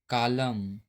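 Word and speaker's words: column: किसी वर्ड में एम और एन दोनों एक साथ आते हैं तो एन जो है साइलेंट होता है। जैसे यहां पर देखते हैं एम और एन साथ में आया हुआ है। तो यहां पे जो एन है साइलेंट है जैसे आटम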